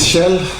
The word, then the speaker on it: Kjell: My name is Kjell, this is how it's pronounced, and I will talk today about transformation of the Nordic welfare states.